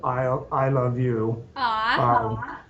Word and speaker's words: Isle of You: And we just did that with, I think you have it pictured there, something that's called Isle of You, ISLE of YOU, but it can be pronounced I love you.